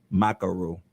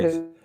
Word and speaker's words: Maakheru: So without further ado, I'd like to introduce you, my followers in the world, to Miss Temakha Maakheru. I messed it up, didn't How pronounce it? Okay. Maakheru.